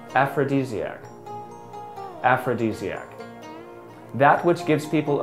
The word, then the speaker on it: aphrodisiac: This word is pronounced as aphrodisiac.